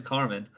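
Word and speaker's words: Carman: can't is it craymond I say Carmen well I wanted to say Carmen that's what I wanted to say is Carmen um it's spelled a little different though I guess c-a-r-m-a-n okay okay yeah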